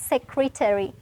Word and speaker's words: secretary: හැබැයි secretary නෙමෙයි අපි මේක pronounce කරන්නේ secretary.